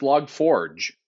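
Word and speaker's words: Log4j: around it yes also today I learned his pronounce log Forge oh that's a fancy French way to pronounce it I'm pretty sure do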